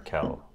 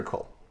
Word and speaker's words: Urquell: thought this was Pilsner Urquell. Urquell, because that's how you'd probably pronounce it in French. And then you showed up here and taught me right. So, that's Pilsner Urquell.